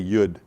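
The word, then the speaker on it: yod: and then you have yud and it's spelled y o d but it's and it's y as like in yellow uh but it rhymes with wood so you say yud then you have cough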